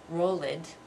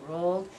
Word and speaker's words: rolled: you're pronouncing those sounds I don't want to hear anybody say roll it or play it okay remember it's played and rolled so pay attention to